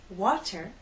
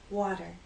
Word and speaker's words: water: two now let's talk about another way we pronounce t in American English you've probably noticed that Americans do not say water we say water and you've probably noticed that Americans do not